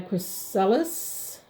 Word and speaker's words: chrysalis: You are still as a chrysalis. That's how you pronounce it.